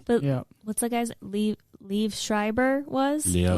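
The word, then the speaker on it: Liev: what's the guy's Leave Schreiber was? Leo. Lev? yeah. How do you pronounce that name?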